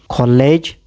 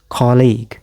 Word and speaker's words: colleague: College. You're wrong. You don't pronounce it like that. The correct pronunciation? Here. Colleague.